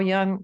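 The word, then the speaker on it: Jung: have a dark side Carl Young the father of Psychiatry one of them is spelled j-u-n-g if you want to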